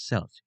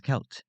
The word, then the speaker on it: Celt: will pronounce it as selt due to the word looking like it has a soft sea it is actually pronounced as kelt because the C is pronounced as a k sound another common error when